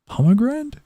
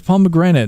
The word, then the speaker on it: pomegranate: Pomegrand. Is it pomegrand? Okay, this one I am actually googling. Pomegranate. It is pomegranate, not pomegran.